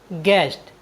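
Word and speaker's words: guest: यू ई एस टी गेस्ट गेस्ट मीस होता है अतिथि साथियों यहां पर भी यू जी और वोवेल्स ई के बीच आया है इसलिए हमने यू का उच्चारण नहीं किया है साथियों मैं आशा करता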